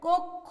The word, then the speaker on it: কক্ষ: এরপর আমরা বলেছি ক্ষয়ের পর উচ্চারণ হবে খ, উচ্চারণ হবে কয়ের পরে কক্ষ, এবং শেষ বর্ণে কি হবে, যেহেতু আকার রস্বইকার নাই আমরা একটা ওকার ব্যবহার করব, তাহলে এটা শুদ্ধ উচ্চারণ হবে কক্ষ।